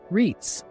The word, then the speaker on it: REITs: REITs, pronounced REITs, offer a completely different and often far more accessible entry point into the world of real estate.